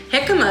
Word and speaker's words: jicama: Jicama is spelled with a J, J-I-C-A-M-A, jicama, and jicama is the new potato.